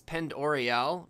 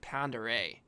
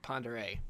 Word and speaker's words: Pend Oreille: See, it looks like it's Pend Oriel, but it's not. It's like Lake Pend Oreille. That's really how it's pronounced, Lake Pend Oreille.